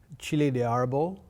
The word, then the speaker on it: chile de árbol: Chile de árbol. Chile de árbol. So, and with this one you say chile. Chile de árbol, that is the name.